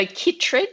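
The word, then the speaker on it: chytrid: not going to pronounce this right but um chrid fungus affecting our growling grass frog populations do you have any advice yes so kitd is how that's pronounced wh that's okay a lot of people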